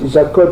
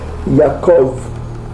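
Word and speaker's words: יעקב: Donc ici la prononciation en hébreu yiddish, le B se prononce V. Eux ils disent pas Abraham, ils disent Avram. Ok. Jacob, ils disent pas Jacob, ils disent Yaakov.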